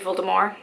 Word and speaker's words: Voldemort: in the first place like I know Voldemort had it's supposed to be filled amor I'm not I'm not